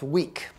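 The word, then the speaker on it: Vík: We're in a part of Iceland called Vik, spelled V-I-K, pronounced weak.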